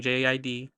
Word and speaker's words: JID: So my fave tracks on this album are Habits, Evil, Lucifer, Fuel, which is featuring JID or Jid, however he wants to pronounce it because he changed his name like twice already.